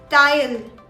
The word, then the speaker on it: Teil: The next word is pronounced as tile. Tile.